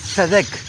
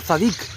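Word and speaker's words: צדק: Y la palabra hebrea 6664 que se pronuncia Sedec, que significa justo, justicia, recto, rectitud. Entonces, un es Melec y un es Sedec o Sadic y es rey de justicia.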